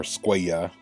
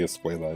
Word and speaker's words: Escuella: Javier Escuela, or Escuella. That's how they should pronounce it, but they always say Escuela, even though his name has two L's, but anyway.